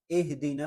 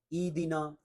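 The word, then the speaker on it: اهدنا: درست تلفظ ہے نستعین۔ اہدنا الصراط، ایدنا، ایدنا الصراط، یہ بھی نہیں ہے، ہا ہے، اور یہ جو ہا ہے دونوں آنکھوں والا یہ حلق کے سب سے نیچے والے حصے سے ادا ہوتا ہے، گلے کے نیچے والے حصے سے، سینے کے قریب۔ اہدنا الصراط، یہاں صاد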